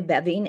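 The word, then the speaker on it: Beving: ASM girl um again my name is bevine and I live in Dallas Texas I've been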